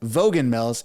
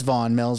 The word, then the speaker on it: Vaughan Mills: For the longest time, when I first moved to Toronto, I was pronouncing it Vaughan Mills. It's Vaughan Mills, right next to Canada's Wonderland.